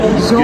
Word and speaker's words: zum: How do you say it? Zum Zoom.